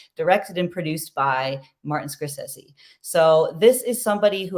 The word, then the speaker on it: Scorsese: famed movie director Martin Scorsese and I grew up saying Scorsese but it's Scorsese but no matter how